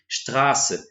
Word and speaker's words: Straße: Suíça, vai estar lá, não vai estar escrito Straße com o beta, com o SZ, vai estar escrito Straße com dois S, mas mesmo assim a pronúncia continua sendo Straße.